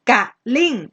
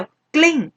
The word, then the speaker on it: กลิ้ง: ต่อ เข้า ใจ ว่า เรา ไม่ ได้ ออก เสียง เป็น สอง พยางค์ อ่ะ เช่น คำ ว่า กลิ้ง แล้ว ไม่ ได้ อ่าน การิง ใช่ ไหม คะ เป็น 2 ขยะ แต่ เรา อ่าน เป็น พยางค์ เดียว กลิ้ง กลิ้ง กลิ้ง นะ ครับ เพราะ ฉะนั้น